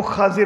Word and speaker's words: خضر: نے بتایا تھا کہ ہم نے خضر بنا دیا ہوا ہے، تلفظ جو ہے وہ خاضر ہے۔ اچھا جی، بہرحال اور